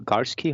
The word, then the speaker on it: Garski: and the guest we bring in is Michael Garski.